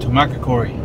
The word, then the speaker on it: Tucumcari: here we're way later son says a Tucumcari then how you pronounce that I know it's more than that to market Cory nailed it well me and Adam finally make